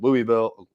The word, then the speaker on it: Louisville: do you say it it's louisville you almost have you almost have to make it two syllables i say louisville because a lot of people don't know what i'm talking about when i'm when i give it the kentucky twang okay so your van's